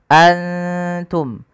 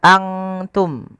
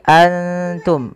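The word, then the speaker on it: أنتم: Maka antum tidak dibaca angtum, bukan dibaca angtum, tapi antum. Bedakan antara bunyi antum dengan angtum, jauh beda.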